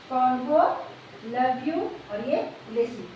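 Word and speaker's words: Convolvulaceae: कोई बात नहीं है इसको तीन बार में पढ़िए कॉन्वो लव यू और ये लेसी और तीन बार में पढ़िएगा ना इसका उच्चारण आप अच्छे से कर पाइएगा कॉन्वो लव यू और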